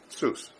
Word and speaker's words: Suess: there it is well how was your last name pronounced Seuss it is Seuss okay it's SW but